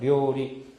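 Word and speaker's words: 料理: 요리라는 말인데 이것은 발음할 때 어떻게 돼요? 그렇죠. 이것은 길게 들어가죠. 료리. 그러니까 료하고는 발음이 다르니까.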